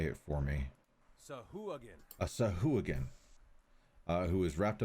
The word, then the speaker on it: Sahuagin: Sahuagin. A Sahuagin, who is wrapped up in chains. He looks rather beaten. Now, for Deluge, a Sahuagin is not necessarily a good thing to see.